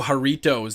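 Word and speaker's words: Jarritos: anything acidic really oh haritos that's how it's pronounced okay I guess that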